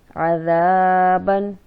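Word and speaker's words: عذابًا: اس کو اس طرح سے ادا کیا جائے گا. عین زبر ع، ذال الف زبر زا عذا، با دو زبر بن عذابن.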